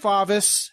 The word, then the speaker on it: Favis: no there you go his name is Steve favis he told me it rhymes with office which is where he